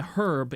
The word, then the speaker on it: herb: true isn't silent yeah herb you pronounce it herb it's not a silent h okay I hate it